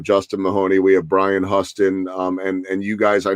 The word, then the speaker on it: Huston: make the mistake like everyone else that it's pronounced hustin not Houston and that kind of actually helps because it'll